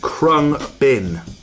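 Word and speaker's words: Khruangbin: and Donald DJ Johnson crumb bin it's how you pronounce it there they move they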